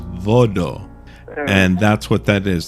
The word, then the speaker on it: Voodoo: it's it's called voto the correct pronunciation of Voodoo is Vado and that's what that